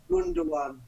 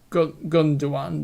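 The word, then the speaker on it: Gündoğan: I can never pronounce his name. Gundogan. Yeah. Gundogan, that's it.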